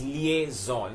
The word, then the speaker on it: liaison: called lies or liaison most people like I said colonizing it is liaison the spelling of that also is interesting many people misspell it as Li ASO N and that's why they call it lies in it is not lies and known as the